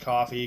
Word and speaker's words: Ko-fi: I think it's spelled coffee, it's pronounced coffee, because it's meant to be, like, you buy a cup of coffee kind of thing.